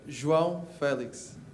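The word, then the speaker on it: João Félix: your name wrong what your name oh you pronounce it wrong could you tell us how to say your name Joel Felix Felix Felix everyone knows he was Felix is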